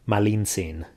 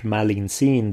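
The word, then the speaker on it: Malintzin: The natives would end up calling her Malinsin, because they couldn't pronounce the R in Marina, so it became Malina, and then the suffix Tsin, which was a sign of respect.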